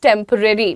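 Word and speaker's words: temporary: उसे आप बोलते हो टेम्परेरी, ठीक है। टेम्परेरी बोलना बंद करो, टेम्परेरी, ठीक है, टेम्परेरी, ररी इज the right pronunciation.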